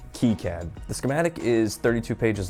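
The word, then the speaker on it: KiCad: That's right, people, it's pronounced Keycad.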